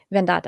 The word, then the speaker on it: Advaita Vedanta: Am I saying it right? Vedanta. Yeah, Vedanta. Advaita Vedanta.